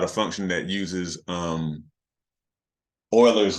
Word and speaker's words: Euler: function that uses um Euler's number or which you know can um be also incorrectly referred to as Euler's number the way it's spelled um but anyway it's